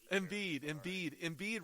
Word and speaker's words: Embiid: They basically put a wax on Joel Embiid. Go ahead, pronounce it all day long anyway. Embiid rhymes with indeed, but they didn't get it done.